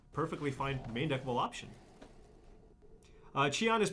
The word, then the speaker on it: Cheon: If you read it phonetically, it looks like Cheon, so just say Cheon.